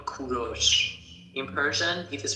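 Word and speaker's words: کوروش: English people call him Cyrus, but in Persian we call him Kuros.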